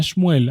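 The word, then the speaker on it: שמואל: Por ejemplo, Samuel, el profeta, en hebreo se llama Shmuel, aunque significan más o menos lo mismo, ¿sí?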